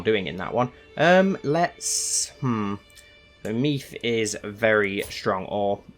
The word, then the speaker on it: Meath: So Meath is very strong, or it's pronounced meth, I think, isn't it?